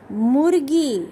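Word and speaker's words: मुर्गी: Totally three letters and two symbols are used. So murgi.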